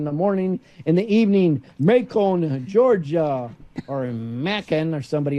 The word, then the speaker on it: Macon: It's not it is Macon, Georgia, like bacon. Okay, Macon like bacon.